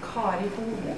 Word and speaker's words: Kari Hoel: For those who don't speak Norwegian, they can call me Kari Hoel.